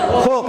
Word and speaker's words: Hulk: Huluk atau buluk atau huluk bacanya ini? Hulk ya, Hulk.